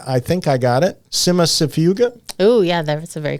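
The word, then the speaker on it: Cimicifuga: Always have difficulty pronouncing this one, but I think I got it. Simasifuga.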